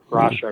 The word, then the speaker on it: Parashar: Okay, I was just saying Parashar prior to this, but Parashar, I believe is how they say it.